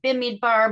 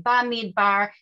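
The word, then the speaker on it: במדבר: Bamidbar. Bamidbar or Bimidbar. There's Israelis who pronounce it Bimidbar. Most Americans say Bamidbar.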